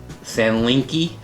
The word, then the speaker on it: Sanlinkee: I'll put the name on the screen of the company that sent this to me, because I cannot pronounce it. Sanlinkee, S-A-N-L-I-N-K-E-E.